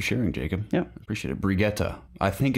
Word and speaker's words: Brigitte: Brigitte. I think it's Brigitte. Someone said Brigitte. Correct us in the comments. Is it Brigitte or I think Brigitte? it's like Brigitte. Or neither? It is Brigitte.